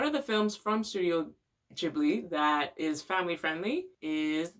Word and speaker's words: Ghibli: what i first used to say is studio ghibli because that's how it's spelled and that's what my english speaking brain